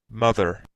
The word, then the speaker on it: mother: this, mother, This with the sound that we mentioned before, like this mother, mother. It's not like very exaggerated. It's a little bit like D, but with DH, mother, mother.